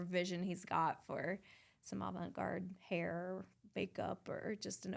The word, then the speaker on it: avant-garde: to do whatever vision he's got for some avant-garde hair, makeup, or just an overall art look in photography. So that's fun. Can I ask what avant-garde is?